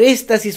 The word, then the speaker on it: éstasis: Por éstasis urinario, ya dijimos, con S y con acento en la E.